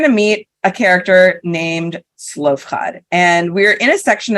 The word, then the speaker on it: Zelophehad: So we meet a character, and I'm going to go by his Hebrew pronunciation, Zelophehad.